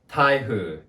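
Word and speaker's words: 台風: with the most important and today's topic tahu taihu notice there's no n in thaihu if you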